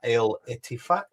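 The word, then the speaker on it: Al-Ettifaq: You're in Saudi at Al Ettifaq. Have I pronounced that well?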